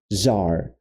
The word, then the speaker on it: czar: Mas os dois, a pronúncia vai ser czar.